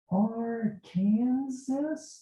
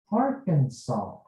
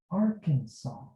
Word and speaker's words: Arkansas: there that's very easy glasses how do you pronounce the state are kansas is this our kansas no it's pronounced arkansas arkansas how do you do okay we're meeting someone